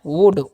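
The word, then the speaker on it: would: जब भी ओ यू के बाद एल डी रहेगा ना तो एल का जो है ना उच्चारण नहीं करना है आपको।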